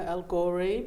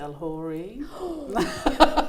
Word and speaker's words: Elghorri: got into comedy so my name is algori but some people pronounce it el hory do you correct them